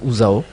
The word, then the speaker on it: UZAO: vous bien bien alors on va parler de ouzao hein je prononce bien le nom oui zaoo usao ou ouzao ouzao de quoi s'agit-il ouzao c'est une association qui